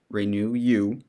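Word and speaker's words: Renuyu: hagan uses a compound called renew you pronounced renew you supplied to him by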